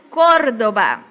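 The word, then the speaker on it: Córdoba: vão ser acentuadas sempre por exemplo Cordoba Cordoba é a terceira sílaba né se a gente separar Cordoba de trás para frente primeiro segundo e terceiro então é uma palavra esdrúxula ela tem acento cor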